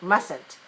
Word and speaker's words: mustn't: negative is message boxing mustn't and the t is silent when we make the